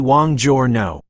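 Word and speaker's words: buongiorno: morning in Italian is Buon Giorno you can pronounce it as the Wang Jor no it is a formal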